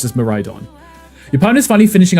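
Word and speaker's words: Miraidon: When we were playing through um Scarlet Violet, I was calling it uh Miridon or something, right? And everyone was like, "No, it's actually just pronounced me ride on."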